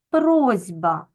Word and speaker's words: просьба: бачимо що у нас дзвінкий звук Б вимагає від глухого с дзвінкості тобто робить його подібним собі дзвінким зі просьба Так ми вимовляємо з вами просьба а в транскри записуємо